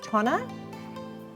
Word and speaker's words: Tonner: Natali Sadie and joining me today is Alex Tana do I pronounce that correctly which is yeah founder and